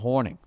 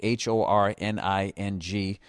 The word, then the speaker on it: Hornung: And so rest in peace to the great Tommy Heinsohn and Paul Hornung. Which for my whole life I thought it was spelled Horning, but it's actually spelled like Hornung or something like that.